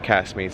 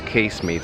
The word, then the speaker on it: Casemate: Um, here at Casmate Square. Sorry, I keep pronouncing it wrong. It's Casemate Square.